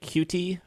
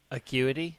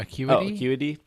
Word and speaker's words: Acuity: A few trainer cards were showed off, which included Arizu, Iscan, Lake Cutie. How do you say that? Acuity. Oh, Acuity.